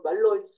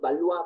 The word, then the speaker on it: Valois: los principales reyes de los valois o de los baluis Perdón que así es como se pronuncia tenemos a Francisco iero